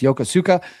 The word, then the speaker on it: Yokosuka: Benfold subsequently returned to the home port of uh I believe that's pronounced Yokosuka, Japan on August 12th.